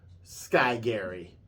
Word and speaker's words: Sky Garry: name is, in Japanese, Sky Garry. And that's with a G. Sky Garry. But it's spelled Garry. 2 R's. Yeah. So almost like Carry, Carry, right?